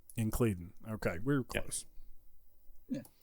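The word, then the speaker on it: Incledon: So I've checked just to try to find a pronunciation, and one I found for the last name was Incleden. Incleden.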